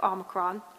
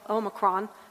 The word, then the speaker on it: Omicron: There's actually three ways to pronounce it. And they're all correct. Very interesting. One is the American way, which is Omicron. One is the international Omicron. And then there's a third, the British.